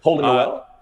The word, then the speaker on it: Holden Nowell: But, Holden Nowell? And six, your artist name too, 6Trey is how you pronounce it, correct?